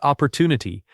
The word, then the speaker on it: opportunity: The word opportunity has stress on the third syllable.